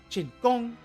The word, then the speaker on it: Chen Gong: So for him it's Chin Gong, Chin Gong. So it goes up, like Chin Gong. Or sorry, goes up and down.